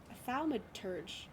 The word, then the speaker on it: thaumaturge: I think we'll need a how do you pronounce that? A thaumaturge.